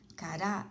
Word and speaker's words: cará: é uma palavra paroxítona encarar a sílaba tônica é a última cará é uma palavra oxítona tomou assento ele faz